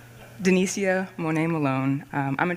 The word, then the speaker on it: Danicia: instead of trying to pronounce it and doing it wrong. Denisia Monet Malone.